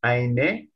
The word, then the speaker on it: eine: Not innen, eine.